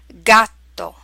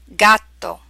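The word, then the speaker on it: gatto: here we have words using these sound combinations gato Paco gusto Largay P eggy and here they are pronounced in Italian and then their English equivalent gato capped Pogo I pay gusto flavor large a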